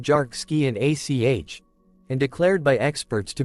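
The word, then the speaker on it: Dearc Sgiathanach: It was quickly given the Gaelic name Derk Sgiathanach, pronounced Jark Ski and ACH, and declared by experts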